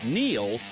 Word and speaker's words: Neil: It's no coincidence that Neil rhymes with deal because that's something you can always count on with the leader in tires and auto repair for nearly a century.